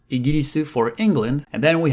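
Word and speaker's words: イギリス: We have Igiris, Igiris, Igiris for England, and then we have Deutsch for Germany, because it comes from Deutsch.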